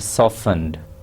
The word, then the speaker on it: softened: to pay attention to this word softened okay tea is silent uh one tablespoon chopped